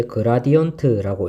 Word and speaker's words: grad: 이거는 읽을 때 그라디언트라고 읽고요.